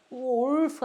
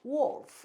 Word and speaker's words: wolf: 그래서 울프 하지 않고 우리는 이거 옛날에 울프라고 배웠는데 울프가 아니고 wolf 이건데 리을 발음이 자연스럽게 잘 나오질 않는다. 그래서 마치 리을 발음을 안 하는 것처럼 wolf 이렇게 한다.